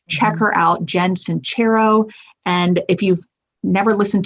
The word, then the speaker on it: Sincero: I'm going to say her name wrong. Sincero.